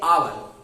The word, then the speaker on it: hour: इसे आप हावर नहीं पढ़ेंगे, HOUR, इसे आप पढ़ेंगे आवर।